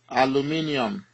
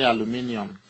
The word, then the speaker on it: aluminium: magnesium then Al aluminium but uh here you will pronounce it as aluminum but in Nigeria we say aluminium uh but here in